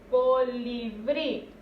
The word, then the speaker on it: colibrí: Repito, colibrí. Entonces aquí en brí es donde recae la mayor fuerza de voz.